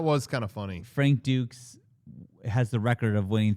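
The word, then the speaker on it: Dux: How do you say it's not Ducks? They say Dukes, I thought. I like Ducks better.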